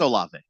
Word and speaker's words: Olave: It's Olave. Oil of Olave shows up and did pretty well for me.